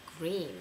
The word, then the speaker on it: GReeeeN: こんにちは。S-A-Y-U-L-E と書いてサユリーです。今日は奇跡。私グリーンが大好きなんで奇跡をちょっとカバーしてみたいと思いました。Today I'm going to cover for you a song called 奇跡 by a band called Green, which is a J-pop band with far too many E's, like four E's or something.